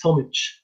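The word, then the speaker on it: Tomić: we have tomich with us right it's tomich yeah yeah you pronounce it correctly yeah nice nice and he's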